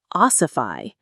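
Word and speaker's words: ossify: It could oify. That's a strange and powerful verb. Oify. Oify. The stress is on the first syllable.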